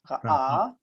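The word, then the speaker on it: ראה: Ra'ah. Rahach. What's the aleph make? What's it sound like? Silent? Silent. So ra, Ra'ah. ra'ah.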